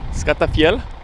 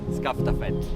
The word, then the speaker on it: Skaftafell: Skaftafell? Skaftafell. How do you say it? Skaftafell.